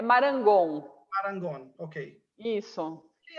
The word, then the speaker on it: Marangon: Quem é Marango? Eu pronunciei bem, Marango ou Marangon? É Marangon.